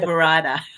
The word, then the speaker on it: Toverada: Toverada.